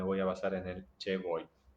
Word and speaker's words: che vuoi: Tengo entendido que la forma de pronunciación en italiano sería chi vuoi. No conozco italiano, así que me voy a basar en el che vuoi.